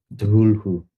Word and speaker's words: Cthulhu: Cthulhu. There you go. Thank you. The normal pronunciation.